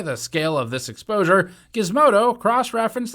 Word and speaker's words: Gizmodo: On December 9th, 2019, Gizmodo, I think it's pronounced with a guh rather than a juh, reported that by analyzing